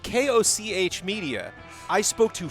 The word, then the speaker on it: Koch: I am aware that Koch is German for cook or chef, which is a word, might not be the word that it is an Austrian German company.